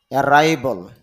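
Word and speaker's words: arrival: অ্যারাইভল আগমন, পৌঁছানো, যদিও এখানে অ্যারাইভাল দেওয়া, কিন্তু আইপিএতে দেখা যাচ্ছে অ্যারাইভল।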